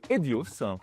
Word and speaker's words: Hedios: Vous êtes le patron de Edios, je le prononce bien.